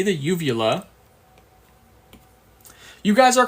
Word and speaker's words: uvula: Did anyone when they were younger think uvula was pronounced yugula? I always pronounce it as yugula until I took anatomy and physiology.